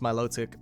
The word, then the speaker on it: Milotic: ugly fish idea better melodic or malotic as some people say according to the guide book it's pronounced Milotic but Pokemon pronunciations are